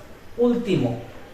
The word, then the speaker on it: último: That means two words, último.